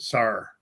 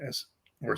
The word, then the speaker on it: Sor: Okay, so Tala's last name is her real name is pronounced Sar. Sar. Like cool. S or Sor. S-O-R.